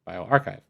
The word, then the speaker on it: bioRxiv: it properly, so I'll just type in here bioarchchive. spelled correct but incorrect because the actual website is this one here. Bio B I O and then capital R X I V pronounced bioarchchive.